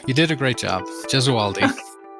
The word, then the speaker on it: Gesualdi: And I'm so sorry if I butchered your last name. Thanks, Pen. No, you did a great job. Jezaldi. Jezualdi.